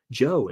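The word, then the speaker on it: Djo: I Avengers like okay I'm gonna check out Joe and uh it's spelled dj0 by the way I love it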